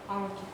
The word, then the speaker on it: Almaty: Almaty. Where? Almaty. Okay, you're pronouncing it like I'm from Kazakhstan and I would understand you. How do you spell it? It's A-L-M-A-T-Y. Almerta, or?